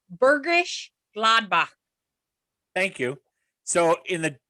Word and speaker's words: Bergisch Gladbach: I think the pronunciation is much closer to Bergisch Gladbach.